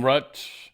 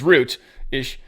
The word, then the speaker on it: Rutte: And Trump is definitely liking Rutte. He's liking him. Yeah, I've just heard it pronounced a couple different ways. I'm pretty sure it's Root-ish.